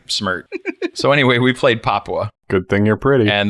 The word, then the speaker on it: Papua: to pronounce this one I kept calling it Papua or something like that it's it's Papua no like Papua New Guinea exactly okay I should